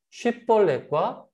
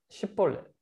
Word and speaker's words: 쉽볼렛: 쉽볼렛과 십볼렛. 에브라임 지파는 이 발음을 못했던 것 같아요. 쉽이라는 발음. 쉽볼렛.